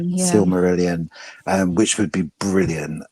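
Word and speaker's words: Silmarillion: Jackson's trying to get the rights to the Sumeri Similian. I can never pronounce the name. Sylmerelion.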